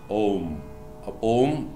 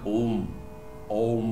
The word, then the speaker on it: Om: It is not ом, ом. Там нету звука м, как записывают обычно двумя буквами о и м.